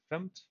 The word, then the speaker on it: fmt: For this, I'm going to use the fmt package by the standard library of Go, which is fmt, and it's actually pronounced as femt by among the Golang community.